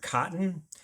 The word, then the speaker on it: cotton: So if you say the syllables in cotton, ton, like the t sound is not in the word cotton. The d sound is in the word cotton. It's a glottle stop, right?